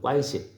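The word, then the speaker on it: 关系: 주목하여 보라 관계성이란 말인데 중국 사람들은 이걸 관계란 말을 꽌시라고 발음하거든요 꽌시 사람과의 관심 그죠 관심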